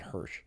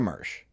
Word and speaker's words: Mersh: I said it wrong. I said Hirsch. Mecha Mersh.